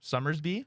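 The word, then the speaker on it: Somersby: How do you pronounce Black cherry? Summersby.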